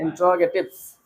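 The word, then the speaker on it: interrogatives: इंट्रोगेटिव्स, इंट्रोगेटिव्स। हाँ इंट्रोगेटिव्स जी, यहाँ पर होगा। होंठ, दांत जो है नीचे वाले होंठ पर लगेंगे, इंट्रोगेटिव्स।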